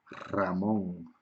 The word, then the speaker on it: Ramón: al inicio de palabra sólo se escribe una ok por ejemplo el ratón hey mouse el animal o un nombre propio ramón muchos nombres ramón ricardo porque son nombres propios que empiezan por l pero solo se escribe una al inicio de palabra pero el sonido del sonido sería doble ok el sonido es doble y también cuando cuando